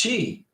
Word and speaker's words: Twi: passport uh you got it Jason T twice pronounced Chi okay what then what's Chi pronounced if Chi